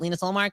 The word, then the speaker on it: Linus Ullmark: Not Linus, is it Linus Ullmark? Yeah, that's how you pronounce it.